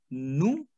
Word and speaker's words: nous: Now, we have nous, which is to we. I cannot say nous. No. Because we have a consonant ending like S. That would be silent. So we have nous is to we.